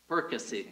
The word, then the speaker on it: Perkasie: Perkasie.